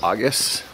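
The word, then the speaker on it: Agés: am now leaving the town of augus or as it's spelled ages we just had an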